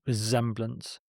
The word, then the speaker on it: resemblance: To bear resemblance to. This sounds like a Z, and there is stress on the first syllable in resemblance.